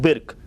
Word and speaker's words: Birk: His name is Gurpratap Singh Birk. So Birk is pronounced as B-I-R-K.